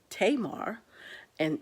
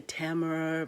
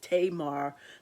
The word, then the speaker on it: Tamar: also see five main women you will see tamar and some people might say tamara but it's tamar pronounced tamar which i learned up so tamar